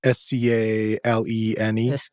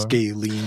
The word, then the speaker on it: scalene: as well it's a scalene I don't know how to pronounce it okay sorry it's like s-c-a-l-e-n-e yeah like the triangle like the the big side of the triangle scalene or something like that